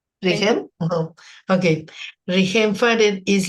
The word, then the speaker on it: Rihem: Rihem?